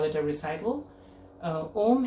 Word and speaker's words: Om: Om has, it can be used as one syllable or three syllables, uma, in one utterance.